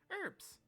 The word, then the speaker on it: herbs: hot what is it herbs she pronounces the H what kind of herbs